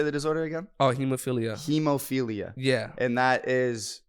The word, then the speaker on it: hemophilia: it because they deal with this disorder called hemophilia. It's a bleeding disorder, and so that's what you were talking about earlier. So you're a big advocate, and how do you say the disorder again? Oh, hemophilia.